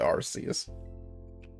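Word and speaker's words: Arceus: He's going to be playing Legends Archus or Arcus. I I'm pronounce it Arus.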